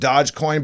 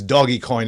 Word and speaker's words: Dogecoin: Yeah, hey Nick, I know it's pronounced Dogecoin, but there is some discussion in history that it was created as Doggy Coin as well.